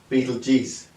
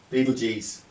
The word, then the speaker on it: Betelgeuse: Aldebaran, Rigel, Sirius and Betelgeuse. Betelgeuse, how they say it apparently.